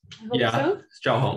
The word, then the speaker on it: Zhaoheng: Did I pronounce correctly your name? Zhaoheng.